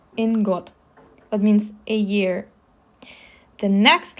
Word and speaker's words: Е: In English, it's pronounced like ye in yes.